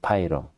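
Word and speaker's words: 白龍: My search revealed that "White Dragon" is pronounced "Pairon" in Chinese. Aji no Mise Pairon.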